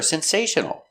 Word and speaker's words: sensational: The L is a dark L back here. Sensational. Sensational. Sensational. 4 syllables. The stress is on the second syllable.